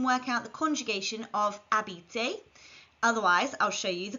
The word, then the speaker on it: habiter: which in French is AB remember H is silent in French repeat after me AB this is an e